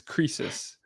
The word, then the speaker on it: Croesus: Yeah, I Okay, didn't know how to pronounce it when I picked that name, but yes, it's Croesus.